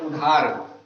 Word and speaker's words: उधार: उदार और उधार एक जैसे लग रहे हैं, उदार उधार, केवल धा का अंतर है, इसमें धा है, इसमें दा है, उच्चारण एक जैसा लग रहा है, थोड़ा सा अंतर है लेकिन अर्थ अलग अलग है।